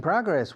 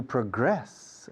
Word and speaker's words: progress: We're making progress. We're moving forward. We're progressing. To progress es el verbo. To progress. Se acentúa la segunda sílaba. Progress. Cuando es verbo. Cuando es sustantivo, no.